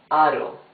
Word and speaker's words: aro: However, if the R is in the middle of the word and is not doubled, it's a smoother sound. Aro. You see, it's smoother.